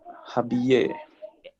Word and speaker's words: habiller: Double L is Y. Y is E. So we say Habiller.